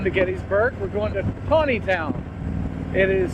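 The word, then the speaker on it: Taneytown: we're not going to gettysburg we're going to tawneytown it is spelled chaneytown but it comes out is it's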